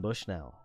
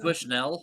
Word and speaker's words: Bushnell: It's But it's French. Bush Noel. You know, it's like just You're pronouncing it more like a U, Kate, right? You're saying Bushnell. He Bushnell taught the as opposed to children how to Bushnell. gamble. Gotcha, right. I'm putting the emphasis on the first half, whereas Alex likes to put it on the second half, and I'm pretty sure I'm right.